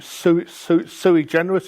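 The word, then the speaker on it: sui generis: and everything else bit of Latin for you su su su generous is how it's pronounced which are locations that are unique in themselves and if you go to useclass deco.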